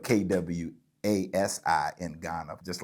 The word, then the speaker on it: Kwasi: It's spelled Kwasi in Ghana, just like Casey, but with a Quay in the front of it.